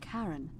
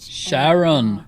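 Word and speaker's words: Charon: it's just as you described it only your pronunciation is a little off the name you heard wasn't karen it was c h sharon holy as in caron the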